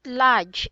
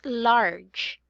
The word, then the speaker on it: large: you pronounce this right not large much not Lodge it's large not very good so you have to emphasize arge are not large very good and because